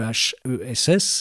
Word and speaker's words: EHESS: Ça c'est au sein de l'École des hautes études en sciences sociales, le HESS, c'est comme ça se prononce précisément.